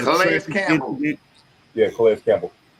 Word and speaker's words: Calais Campbell: Yeah, Calais Campbell. Calais Campbell.